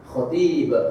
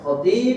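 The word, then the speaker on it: خطيب: yang disampaikan oleh Khatib khotib khotib artinya orang yang khutbah jangan salah dalam pengucapan Panjang pendeknya ini pentingnya Bahasa Arab sehingga kita tahu bagaimana cara pengucapan yang tepat khotib itu orang yang khutbah Adapun orang yang Khatib Khatib khnya panjang itu adalah orang yang khitbah orang yang khitbah dengan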